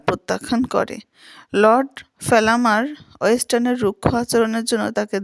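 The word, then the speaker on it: Fellamar: Lady ব্যালেস্টন পরবর্তীতে সোফিয়ার প্রতিরশানিত হয়ে পড়ে এবং লেডি ব্যালেস্টন এবং মিসেস ওয়েস্টারন মিলে সোফিয়াকে লর্ড ফেলামার এর সঙ্গে বিয়েতে রাজি করাতে চাপ দেন। এই লর্ড ফেলামারের বানানটা হচ্ছে এলও আরডি FE double L এ এম এ R Lord ফেলামার।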